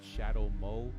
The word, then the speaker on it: Shadough: listed there, but at Shadow Mo. That's SHADOUGH, like shadow, like like Play-Doh type, not dough, not Play-Doh. That's stupid because they spell it DOH. Like dough, like sourdough. You know what I'm saying?